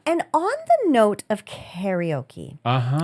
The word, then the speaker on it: karaoke: And on the note of karaoke or karaoke as it is properly pronounced in the Japanese um the Japanese in Nihongo.